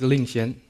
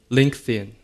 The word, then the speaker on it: Lingxian: a Chinese name and I heard many times that people would call me Linkin because you know the pronunciation of the letter X is different between Chinese and English so for people's convenience